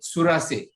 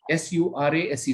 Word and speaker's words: Surase: Now, as an interventionist, my name, I think you pronounced a little wrong. My name is Surase, S-U-R-A-S-E, Surase.